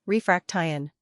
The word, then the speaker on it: refraction: Break it into parts, refraction. The stress is usually on the second syllable.